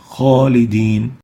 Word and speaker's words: خالدين: Kha is one of the خص ضغط قذ, the elevation letter, and that's why it should be pronounced with tafkheem. خالدين.